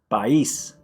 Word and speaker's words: país: Even if there are vowels next to each other, still pronounce each one separately. And you'll see it'll help you to be able to pronounce that word that seemed so difficult. You'll get it. All right, so the first word is país.